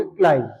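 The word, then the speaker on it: climb: ध्यान रखना सी एल आई एम बी इसको क्लाइम नहीं बोल के आप बोलेंगे क्लाइम।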